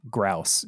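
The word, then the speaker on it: Grouse: channel grous house grous house like grout no grous g r o u s e spelled spelled like house but with gr instead of H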